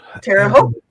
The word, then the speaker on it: Terre Haute: Terre Haute rhymes with boat.